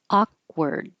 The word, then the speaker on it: awkward: Awkward. You won't hear that K really, but you could awkward because I'm putting it up here. A and I move awkward or a You might hear a little sound as I pull my tongue down from the K position, but you don't make